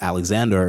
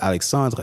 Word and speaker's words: Alexandre: they would pronounce it Alexander instead of Alexandre, and they would say Stephen instead of Stefan.